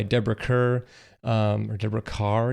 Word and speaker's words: Kerr: kerr um or debra carr even though it's spelled kerr everybody says car i don't know why